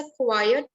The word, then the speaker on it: quiet: Second वाला जो है QUIET, शांत बच्चा, that boy इज अ क्वाइट child, तो इसे बोलेंगे क्वाइट, अट साउंड आनी चाहिए लास्ट में।